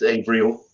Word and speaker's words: Avriel: Ariel's your daughter abrielle how do you say it April or abrielle it's Avril Abraham um who has